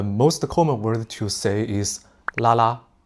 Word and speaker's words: 拉拉: Et ensuite, le mot le plus courant est 拉拉. Il est développé à partir de la prononciation de "lesbian" et on l'a rendu plus joli, plus mignon. Donc, lelelelelalalalala, 拉拉.